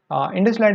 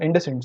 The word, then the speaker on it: IndusInd: IndusLight is a IndusInd, sorry, I pronounce it by mistake every time.